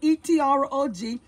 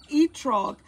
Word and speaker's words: etrog: I got to spell it for you. E-T-R-O-G.